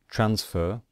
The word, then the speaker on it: transfer: So, for example, transfer. Transfer, we stress the first syllable. So we do not stress the final syllable, and so we just add ed. We do not double the consonant.